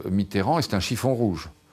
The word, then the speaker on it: Mitterrand: Le camp socialiste sait que la France de Coluche risque d'empiéter sur celle de François Mitteran.